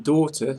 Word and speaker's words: daughter: In daughter, leave the GH out.